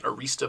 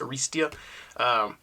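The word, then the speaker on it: Arrastia: I feel like I've been saying his name wrong. I've been saying Arista, but I think it's Aristia.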